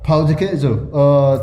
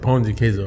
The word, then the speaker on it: pão de queijo: We're supposed to pronounce it pão de queso, right? Because you say pão de queso, it's what we would. Pão de queijo, yeah, pão de queijo. Yeah, because if you say pão de queso, Pão de queijo, it's like that's literally bread of cheese.